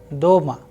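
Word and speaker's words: дома: In case of doma, again the sound of o is higher than the a. So, the sound is doma.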